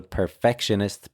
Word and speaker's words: perfectionist: Okay, so the stress here should be on the second syllable, perfectionist.